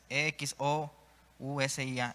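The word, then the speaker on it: ἐξουσία: Esta palabra autoridad en el griego es exousia, con X, E-X-O-U-S-I-A, exousia, así se escribe.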